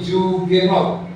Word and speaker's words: Huguenot: Cara bacanya ini Jugenot. Dia tulisnya Huguenot, tapi cara bacanya Jugenot.